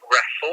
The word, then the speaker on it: Reffell: Reffel, so that's REFFELL. So that's Romeo Echo Foxtrot Lima Echo. Sorry. E-double-L at the end, so REFFELL. Oh, I'm so okay. So like Reffel.